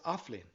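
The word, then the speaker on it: Athbhliain: The first word is offlin, pronounced ah and vlin.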